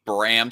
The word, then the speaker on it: Bram: You keep on saying Bam Stoker. You mean Bram Stoker?